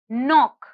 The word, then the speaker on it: knock: the next word is knock knock knock if you hear the letter k is silent the next word is